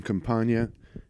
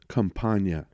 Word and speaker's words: Campagna: I think it's on the podcast when you see it, but that's how you pronounce it if you ever need to feel the need to pronounce my last name. There you go, Campagna.